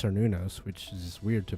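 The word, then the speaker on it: Cernunnos: Um, I guess I'll bring I assume this is the Kernunos fight or I learned it was it's pronounced Cernunos which is just weird to me but this is the Cernos fight.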